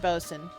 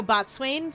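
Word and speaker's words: boatswain: I N which admittedly I never remember that's how it's pronounced because I look at it and go botswain.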